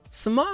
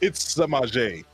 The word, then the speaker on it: Samaje: Samaj. That's my word. Yeah, that's a unique name. I actually don't hear that on the usual. Not Samaj. It's Samaje. Samaje. Okay, that's how you pronounce it.